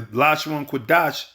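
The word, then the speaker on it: לשון קודש: The Lashon Kodash, that's how you pronounce it, which means the holy tongue.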